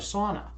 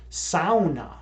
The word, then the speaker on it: sauna: That's actually not the correct pronunciation of sauna. In the UP, there's a ton of Finnish people, and the sauna originated in Finland, and it's actually pronounced sauna.